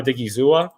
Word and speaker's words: Odighizuwa: Is that how I pronounce his name? Yeah, Osa Odighizuwa, because that was available to them, and that's what fell to them.